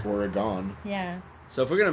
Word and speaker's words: Oregon: of yeah yeah yeah how do you say that one organ organ yeah like an organ in your body I guess it is Oregon yeah so if we're